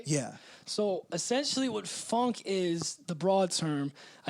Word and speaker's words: Phonk: So, it's called funk, but it's spelled Phonk.